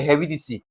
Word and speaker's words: heredity: Now, I'm having a word here, heredity. JAMB wants us to stress what now? Heredity. How do I identify aspects or the part of the word, the syllable that is being what now? Stressed, the syllable we're going to sound the most, okay? Now, to stress it, remember heredity can broken down into he- re- di- and what now? -ty, right?